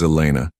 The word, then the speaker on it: Elena: "My name is Elena. I'll be taking care of you this evening." "Elena," he tested the name, noting the slight emphasis she placed on the second syllable.